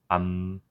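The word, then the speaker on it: 암: So with A, when the mium goes to the bottom of a Korean letter A, it becomes am.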